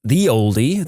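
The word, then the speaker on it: ye olde: The ye in ye oldie is actually abbreviated as an early modern English letter called thorn that was pronounced like th. So, it's pronounced more like the oldie than anything else.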